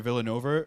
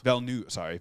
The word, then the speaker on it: Villeneuve: No, I think the second where Villanova is that how you say his name? Villeneuve.